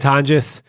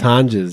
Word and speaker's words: Tonjes: Tonjes, at Tonjes.